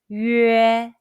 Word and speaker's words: 约: on top of it, the pronunciation is 约. It's a combination of the Mandarin Chinese 语 and 诶 sound. Let's say 约. First, pucker your lips to pronounce 语, then immediately followed by as in the English word yes. Let's try. Say 约. Your lips are from round to spread.